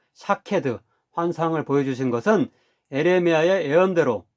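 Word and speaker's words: שָׁקֵד: 따라서 히브리어로 지켜본다, 즉 쇼케드라는 말과 첫 모음만 빼고 발음이 같은 살구나무, 즉 샤케드 환상을 보여주신 것은 에레미야의 예언대로 이루어질 것임을 강조하면서 약속하고 있는 것입니다.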